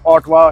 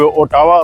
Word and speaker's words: Ottawa: Spelling उसकी OTTAWA, ओटावा बनती है, लेकिन ऑटवा बोला जाता है।